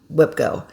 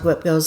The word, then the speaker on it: WIPGO: Is I put the first week of the month on my Whipgo.